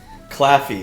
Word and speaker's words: Claffey: uh how do you say your last name claffy it's a fine irish name okay good hey